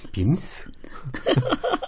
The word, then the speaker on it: VIMS: 발음 좋습니다. 빔스.